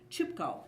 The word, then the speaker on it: Chipko: was easy to remember Chipko as in the choo-choo train as you would probably